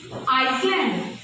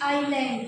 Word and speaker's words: island: And today we learn some common mistakes in English pronunciation. Yes, okay, tell me, Iceland. No, ma'am, it's island.